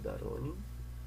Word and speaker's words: Doronin: Meu nome é de Doronin, que na verdade se pronuncia Daronin, mas tudo bem, se escreve Doronin.